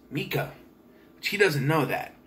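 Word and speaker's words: Mieke: but it's spelled m-i-e-k-e which is a german female name pronounced mika which he doesn't know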